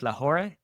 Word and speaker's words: Lahore: Did I say it right? Lahore. Yes. University of Lahore. That's correct.